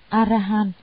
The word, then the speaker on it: Arahan: Đại A La Hán là tiếng Ấn Độ, nguyên âm đọc là Arahan, có hàm ba nghĩa: